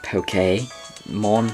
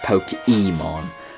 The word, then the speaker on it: Pokémon: The reason why I'm pronouncing it pokey mon pokey dex that the e with the accent over it is pronounced as an a. So like Jose um poke pokemon. It's so uh that's the reason I feel like that's the way it actually should be pronounced. Not pokemon.